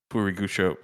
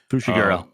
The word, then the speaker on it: Fushiguro: Um he said, "If that means anything to you, we know that's uh Purigucho." I can't say his name right now. Fushiguro.